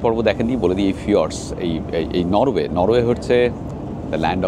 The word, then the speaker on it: fjords: এই ফিয়র্ডসের স্পেলিং কিন্তু FJORDS, উচ্চারণটা হয় ফিয়র্ডস।